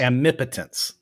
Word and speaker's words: omnipotence: I said but yeah yeah because isn't it Ami potency yeah okay it's a challenge around say it differently each time yeah say it again how you say it Tom I say it omnipotence omnipotence thank you yeah there you go perfect and